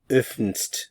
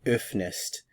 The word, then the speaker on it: öffnest: And if I were to just add the st, it would be öffnst. It's kind of difficult to pronounce, so you can see the reason for adding the E. So let's go ahead and add the st ending along with the E, and we have du öffnest. So adding the E makes it easier to pronounce and separates the syllables.